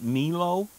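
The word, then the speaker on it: Melo: It's called, now I'm going to pronounce it Milo. It's M-E-L-O, and inside is a very large coil.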